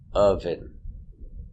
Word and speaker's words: oven: a symbol of peace another example of the sound uh oven relax sound uh uh oven oven I'm